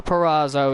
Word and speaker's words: Perazzo: perazo well D oh Diana perazo is how how it's supposed to be pronounced oh give me Trinity